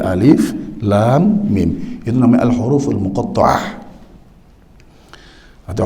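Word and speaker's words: الم: Jangan dibaca alam gitu, jangan, tapi alif, lam, mim.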